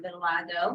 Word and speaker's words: vitiligo: This little girl right here was being bullied for her vitiligo.